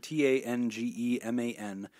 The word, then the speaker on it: Tangeman: It's at Nick_Tangeman, T-A-N-G-E-M-A-N. Tangeman is how you pronounce that.